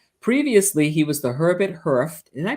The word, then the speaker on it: Hurf: Previously, he was the Herbert Hurf. Did I pronounce that right? Is it Hurf?